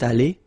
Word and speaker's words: allée: Phonetically, it doesn't exist. You don't pronounce it, so you get elle est allée, and then for the masculine form, il est allé. So aller is pronounced the same way, but still you have to write it.